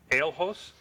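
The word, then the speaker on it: Ahloso: I believe that's pronounced Ailhos, A-H-L-O-S-O-S. They are seeing power flashes along with it, and they're reporting some debris.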